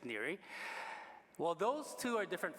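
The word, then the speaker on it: Neri: the southide there say ner but it's ner really if you really want the Italian pronunciation it's near well those two are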